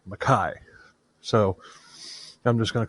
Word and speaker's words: Mackay: monster Patrick David McKai is actually spelled McKay but it's pronounced maai so I'm just going to call him Mai I might I might